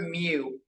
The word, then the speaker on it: mu: is the Greek letter mu it's spelled mu it's pronounced m-e-w you Pokemon fans out there it's like Mewtwo it's said like that that cool looking e